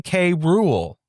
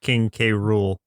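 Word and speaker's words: King K. Rool: I always thought it was King K Rule because there's like a period like his middle initial. It is King K Rule, but they pronounced it krule.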